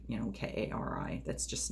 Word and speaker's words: Kari: that's just not common i've been told that it's a scandinavian name so like if i went to like switzerland or norway or something i would probably find with my name on it everywhere they pronounced it kari there but it's with my